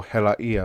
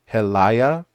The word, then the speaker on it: hela ia: No, this isn't a very super pronounced glottal stop. The sort of glottal stop ia, yeah, hela ia. Yeah, and that's sort of because without it, it would be kind of like helaya, which is not how it sounds at all.